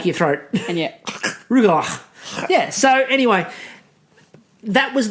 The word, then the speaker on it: Rugelach: Sent us a video explaining the pronunciation. Yes. Rugelach. Rugelach.